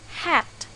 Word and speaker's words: hat: with the letter H it is not a silent letter we really pronounce it as hat so we should use